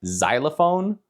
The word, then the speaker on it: xylophone: The next letter in the English alphabet is X, and sometimes the X can be pronounced like a Z, like xylophone, or the name Xavier, but we can also say like X-ray, and that's X.